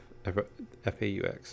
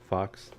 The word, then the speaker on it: faux: Your minds would ultimately be separated from these F-A-U-X. I don't know how to pronounce that word. Is it fox? It's not fox. I don't think you pronounce the X. I want to say it's faux.